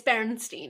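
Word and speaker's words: Berenstain: yeah uh I know they're spelled Baron stain yeah and I wish I had copies of what elstein it's barenstein it's 100 percent barenstein like I we had these books when I was little it's barenstein and there's it's there's no a there's no a in their names it's that fight me I don't know whose idea that was but it's barenstein we're gonna get one more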